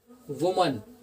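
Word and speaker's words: women: ऐसे ही यहाँ लिखा हुआ है वुमन, वुमन मतलब औरत, तो यहाँ पर वुमन में क्या स्पेलिंग हो रही है, A, तो यहाँ पर हमने कर दिया E, तो ये हो गया विमन।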